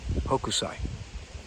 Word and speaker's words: Hokusai: Name the artist and it's in English it's pronounced Hokusai and he was a famous became famous artist